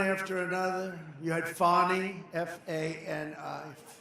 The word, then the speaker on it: Fani: You had Fani, F-A-N-I, which is usually pronounced Fanny.